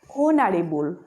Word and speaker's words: honorable: Okay, different thing is that here look at the pronunciation of this word. What is the pronunciation of this word? Honorable. That means here H is hidden.